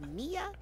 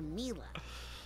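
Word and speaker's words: Milla: saying her name wrong is he pronounced mia or mila well it's short for camila you know but when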